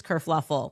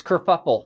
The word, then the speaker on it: kerfuffle: Prince Harry abdicates England, causes this whole race kerfluffle. Oh, no, it's kerfuffle.